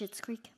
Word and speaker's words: Schitt's Creek: Have you watched Schitt's Creek? I wasn't going to say it because it's shit. It's spelled differently.